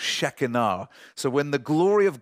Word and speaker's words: Shekinah: shekinah glory of god actually pronounced shekinah so when the glory